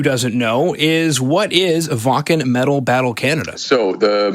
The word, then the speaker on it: Wacken: Yeah, and for anybody who didn't know, we're talking about Wacken. Yeah. Which is properly pronounced as Wacken. Now, that's absolutely excited.